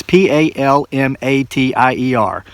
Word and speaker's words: Palmatier: It sounds kind of like it French in nature. Palmatia. It's Palmatier. Shrink for Men. Dr. Tara J. Palmatea.